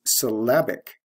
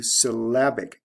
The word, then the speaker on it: syllabic: adjective form is syllabic notice the stress shift from first syllable to second syllable we have l e to i c ending plus the sound change syllable to syllabic did you hear the difference in vowel sound syllabic short a in the second syllable the next one is